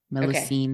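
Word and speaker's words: Mélusine: Werewolves, obviously, the changelings, I'm probably going to say this wrong, Melusine. I don't know how you say it. Melusine.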